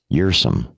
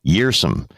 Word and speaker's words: Kjersem: How are we going to pronounce his last name, Joe? Kjersem. Say it again. Kjersem. Okay. I think Dustin that's correct. Kjersem.